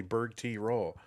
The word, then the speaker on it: Bergtroll: it's divided up, and then someone tells you like three years later that Oh, no. No, it's actually Berg T roll.